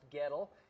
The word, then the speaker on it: Goettl: So, if you see the trucks driving around town, it's pronounced ghetto.